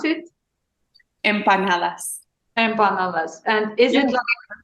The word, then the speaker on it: empanadas: How you pronounce it? Empanadas.